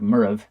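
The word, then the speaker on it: Moireabh: from in the gallic when you pronounce Murray it's actually more like murov and so it's very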